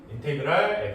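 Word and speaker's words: integral: 앞에 있는 이 거대한 S를 영어로 인테그랄이라고 읽고요. 인테그랄 f'x dx 이런 식으로 쓰는데 뜻은 적분하세요.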